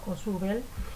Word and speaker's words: Ausubel: Entre los autores constructivistas se encuentra un autor que yo pronuncio Ausubel. En los videos que van a ver ahora con ejemplos y que han realizado estudiantes como ustedes, van a encontrar la pronunciación de otra manera.